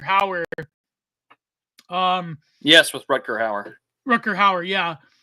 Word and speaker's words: Rutger Hauer: Rutger Hauer, yeah. Kind of like Rutgers University. Is that how you say his name?